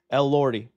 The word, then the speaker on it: Elordi: So it's like Lord, like Elordi. Jacob Elordi. Okay. I said Elordi. Rodeo? Elordi. Elordi. El Rodeo? Someone said. Okay, Elordi. Jacob El Rodeo. Jacob Elordi.